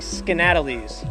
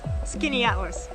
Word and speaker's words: Skaneateles: They have a place on one of the Finger Lakes that is spelled like this. It looks like Skaneateles. That's what we thought. Show you my hat. But it's actually pronounced as Skaneateles.